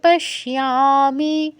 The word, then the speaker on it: পশ্যামি: দিদি ভাই, পস ইয়ামি হবে না, পস কোনটা কোনটা? শিয়ামি হবে। 30, হ্যাঁ। পশ্যামি, নিমিত্তানি চ, পশ্যামি, পশ্যামি। মানে জফলাটা কি, জফলাটা উচ্চারণ কি ইয়া, ইয়ামি, ইয়া। হ্যাঁ হ্যাঁ, শয়ের সাথে ইয়, শিয়া। ঠিক আছে, তারপরে এর সাথে আকার শিয়া, শিয়া, পশ্যামি।